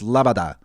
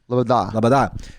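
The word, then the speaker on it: Loboda: Like every it's like lo bo da if you were trying to spell it to somebody, but if you're saying it's Labada. Labada.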